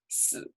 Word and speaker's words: 死: 死, low tone is to die.